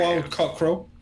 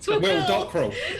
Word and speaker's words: Will Dockerel: Oh, it's It's Will. Will Dockerel. It's both said it wrong. It's Will Dockerel.